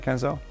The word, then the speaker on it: Kenzo: His name is Kenzo. Do I pronounce it correctly, Kenzo?